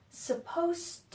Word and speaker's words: supposed to: first thing is that there's a pronunciation difference between suppose which ends with a Z sound suppose and supposed to do so in their spell very similarly but in this one the S sounds like a Z and in this one the S sounds like an S so we have suppose